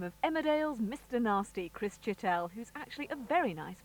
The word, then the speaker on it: Chittell: Apparently it's French-Hungarian, and the pronunciation apparently is Chittell. Right. Fatal, because I, in my infinite wisdom, informed our main receptionist at Emmerdale that it was French, and said it's, you pronounce it Chittell.